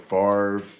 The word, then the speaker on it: Favre: man I think you just said it right farre Aaron roders that's 30 years of Excellence right